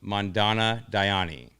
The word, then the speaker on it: Mandana Dayani: Excited to welcome Mandana Dayani.